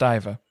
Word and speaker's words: Ivar: It's pronounced Iva.